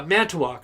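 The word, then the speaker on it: Manitowoc: it right here uh man to walk okay man to walk i was gonna say it with a w for some reason so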